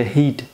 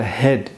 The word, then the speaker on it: head: دوستای زیاد ما این کلمه را به شکل هید تلفظ میکنن. کاملا اشتباه است. به شکل هد باید تلفظش کنیم.